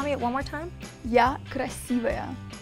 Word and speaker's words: Я красивая: You need to say, Я красивая. Я красивая. I said it wrong. Okay, say no, that. Sure, no. That's fine. Okay, tell me it one more time. Я красивая.